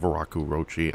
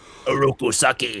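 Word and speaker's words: Oroku Saki: because of the actions of the Shredder of Araku Roachchi. I'm saying that name wrong, I know. Aku Saki.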